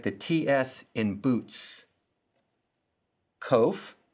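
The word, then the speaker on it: ק: the ts in boots kof sounds like the k in king the kof and the cough sound alike sounds like the r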